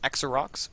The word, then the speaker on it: Xerox: Let him know that it was a mistake, and it was a 0 with the when we pronounced it 0.